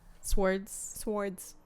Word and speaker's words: swords: Usually I say swords. I take out the whole W. Swords.